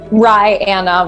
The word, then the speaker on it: Ryann: Ryanna. Rye like the bread and Anna like the woman's name.